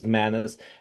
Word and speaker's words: MANRS: So we pronounce this as MANRS, as good manners.